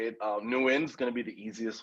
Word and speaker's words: Nguyen: And so I said, yeah, it's pronounced Nguyen. That's correct, right? Yeah, there's a lot of different ways to say it. Nguyen's going to be the easiest way to say